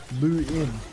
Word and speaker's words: Luan: By the way, Luan for Ireland is pronounced Luin. It means Monday in Irish.